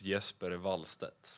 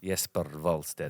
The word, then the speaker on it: Jesper Wallstedt: Yeah, the Swedish way is Jesper Wallstedt. Jesper Wallstedt. That sounds cool. You've got to roll the R a little bit there. Yeah, just a little bit. Jesper Wallstedt.